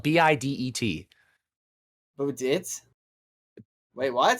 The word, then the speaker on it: bidet: couldn't today is spelled b-i-d-e-t but we did wait what so it's gonna be fine d-e-t bidet it's gonna be French yeah yes that's weird